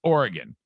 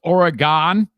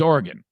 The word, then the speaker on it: Oregon: the state of oregon side note it is pronounced oregon and if you're around someone that says oregon punch them in the face okay it is not oregon it's oregon that's how you say it oregon is now